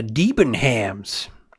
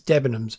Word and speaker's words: Debenhams: But one day he said to me, "What would that store debonhams?" Um, it was quite funny the way he pronounced um, it's Debbenoms, but there we are.